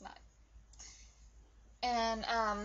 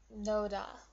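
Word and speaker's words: 놓다: And it's pronounced nota, not noda. It's nota because this H sound makes this into like a T sound.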